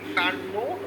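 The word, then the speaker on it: Carnot: দেখো আমরা তো এটা দেখেছি কি কার্নো সাইকেল থেকে, দেখো এটা দেখেছি কি যে from কার্নো cycle, actually কার্নো আছে কিন্তু এটাকে প্রোনাউন্সিয়েশন করা হয় না, কার্নো বলা হয়, কয়েকটা মধ্যনারী পোকা কার্নো।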